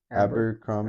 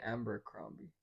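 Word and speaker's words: Abercrombie: Abberrombie. Amber Crombi. Mitch. He said that. How can people say it's Amber? I've never heard anyone call Amber Crombie.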